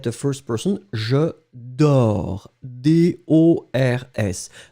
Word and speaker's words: dors: So, as you can see now, you've got the first person, je dors, D-O-R-S. Remember, final S, we don't pronounce it, so je dors, I sleep.